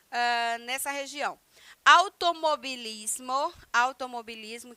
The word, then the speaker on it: automovilismo: nessa região automobilismo automobilismo que se escreve automovilismo mas se pronuncia da mesma forma como se escreve em português né que é automobilismo porque o v em espanhol tem esse som de B bilhar bilhar quem é